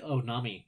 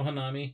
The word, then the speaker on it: Hanami: How did you like Onami? Is that how you say it? Oh, Hanami.